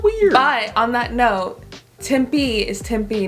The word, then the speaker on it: Tempe: at a little funny so it's suar we pronounce things a little weird but on that note tim b is tempe not tempeh yeah casa grande is casa grande not costa